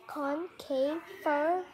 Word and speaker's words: Concavenator: Pronunciation Concavenator. This thing is strange. Concavenator.